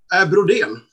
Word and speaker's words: Brodén: How do you pronounce it? Brodén.